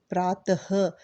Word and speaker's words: प्रातः: जैसे कि प्रातः, ह का प्रयोग ज़्यादा होता है, पुनः, अतः, अंततः।